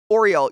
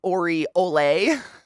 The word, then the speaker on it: oriole: Oriole, you thought it was like Ori-ole?